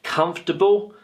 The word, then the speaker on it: comfortable: but I pronounce it comfortable comfortable comfortable comfortable and we can see here that we have a couple of sounds in Brackets because they're very weak sounds listen again comfortable comfortable